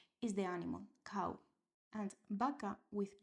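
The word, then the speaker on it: baca: So sounds B and V are the same B.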